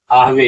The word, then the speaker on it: आहवे: और इस तरह से बताते हैं यहाँ पर नीचे देखिए, नौच श्रेयो अनुपश्यामि अथवा स्वजनम आहवे। यहाँ उच्चारण आहवे नहीं होगा, यहाँ उच्चारण होगा आहवे, स्वजनम आहवे।